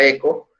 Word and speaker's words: echo: Bueno, con echo, o sea, hecho, eso que está acá se pronuncia echo, nosotros decimos que podemos utilizar muestra 1 o más cadenas.